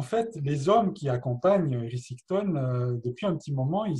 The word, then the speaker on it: Érysichthon: Alors, c'est le roi Érysichthon. Je pense que je prononce juste. Érysichthon.